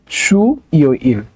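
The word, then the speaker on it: 수요일: young এর জায়গায় চলে যেত ওকে তাহলে এটা উচ্চারণ হবে সুই ইল ওকে সুই ইল হ্যাঁ আচ্ছা তারপর আছে হচ্ছে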